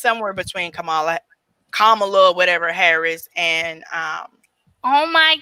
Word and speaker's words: Kamala: It's like comma, but Kamala.